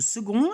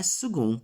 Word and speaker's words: second: La cosa che va ricordata su second è che la pronuncia è second con la G, non con la K. Quella C va letta G, va letta più morbida. Quindi si legge second.